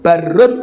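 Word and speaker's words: بَرّ: Ini bacanya burun, barun atau birun. Kalau barun itu daratan. Zuharul fasadu fil barri wal bahri.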